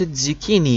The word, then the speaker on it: zucchini: It's pronounced zucchini.